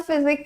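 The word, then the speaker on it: physique: अगर ऐसा है तो ये वाला फिजिक्स क्या होता है फिर भाई? फिजिक। दोनों देखो, साउंड भी अलग है, प्रोनाउंसिएशन समझो आप। फिजिक, फिजिक्स एंड फिजिक।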